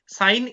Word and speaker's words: sine: সাইন SIN, কেউ সিন উচ্চারণ করবে না, সাইন, পুরো কথাটা হচ্ছে SINE।